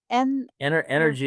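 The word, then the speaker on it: NRG!: The company was called N Energy exhibit, spelled Energy NRG exclamation point, but Exhibits. pronounced energy. Yes, Energy.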